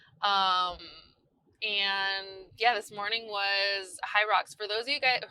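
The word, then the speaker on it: Hyrox: I always want to say Hydrox, but it's high rocks.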